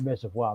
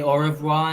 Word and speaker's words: au revoir: "Do you have that Reservoir movie?" They couldn't pronounce. Stupid Americans couldn't pronounce the word revoir. Right. Au revoir. They're trying to say au revoir, and they say reservoir. They said reservoir.